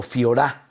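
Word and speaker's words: φθορά: Aquí, fíjate, en esta palabra griega, corrupción, es fijorá o fiorá, con F-I-H-O-R-A, acento en la fiorá.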